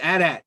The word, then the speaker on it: AT-AT: It's AT-AT.